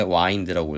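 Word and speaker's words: wind: 운드 와 운데 경우에는 와인드 에 과거형으로 자 이거 이제 윈드 하고 스펠링은 같애 근데 와인드 라고 읽어요 애초 외각에서 바람을 말할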